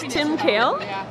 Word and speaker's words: Tim Kehl: Okay, well we're at the Fair Trade Holiday Fair here today with Tim Kehl. Is that pronouncing it correctly? Tim Kehl?